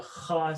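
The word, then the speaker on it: خاء: Kha is if you have, I explained it to them yesterday, it's like if you had, some phlegm, a loogie stuck in there and you're trying to get it out, you're sick and you go, right? That sound. That's what the kha sound is.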